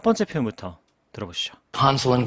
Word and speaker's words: Hansel: SEL 부분을 ZL 이렇게 주로 발음하고 있고 세게 발음하면 약간 칠 이렇게 들렸었죠.